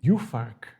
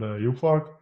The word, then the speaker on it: Juhfark: Well, I know Furmint, but we have also another variety, Juhfark. Am I pronouncing it correctly? Juhfark?